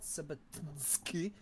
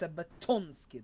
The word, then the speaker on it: Sabatonsky: It's not Sabatinsky, it's Sabatonsky. There is an O in there.